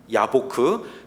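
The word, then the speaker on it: יבק: 야곱이 있었던 저 야복강은 히브리어로 야보크입니다. 야보크.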